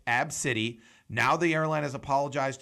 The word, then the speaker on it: ABCDE: name is a misspelled ABCDE pronounced AB City and when she went